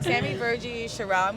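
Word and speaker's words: Virji: Virgie, okay, yeah.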